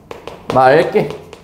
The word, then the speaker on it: 맑게: 리을이 살아남는다는 거 여러분 예를 들어서 맑게 어떻게 발음합니다 맑게 요렇게 발음하죠 맑게 그리고 얘들아 어이 개념은 또 어떻게 되는 거냐면요이 기억이 탈락하면서 뒤에 있는 기억에게 영향을 줘서 된 소리 되기를 하게 하고 탈락한다 약간 이런 개념입니다 그래서 말가 되는 거예요 아시겠죠 이거 여러분들이 생각해